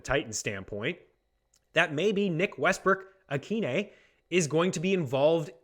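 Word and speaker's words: Westbrook-Ikhine: learned this week is the pronunciation of nick westbrook akine that's right nick westbrook akine i learned a lot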